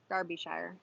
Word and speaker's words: Derbyshire: derbyshire england where darby darbyshire well she wrote derbyshire i'm telling you how to pronounce it it's pronounced darby so fun fact for